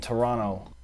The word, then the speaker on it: Toronto: T and say spaghetti I don't pronounce the second T in Toronto no I I just